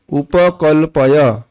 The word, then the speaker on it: उपकल्पय: संस्कृत उच्चारण देख रहे हैं, उपकल्पय नहीं है, उपकल्पय। देख रहे हैं, इतना अलग लगता है सुनने में, हिंदी की तरह नहीं बोला उपकल्पय।